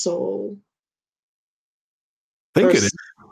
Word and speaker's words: Sowell: Yeah, Oh, I said Thomas Sowell, but I didn't know it's pronounced Soul.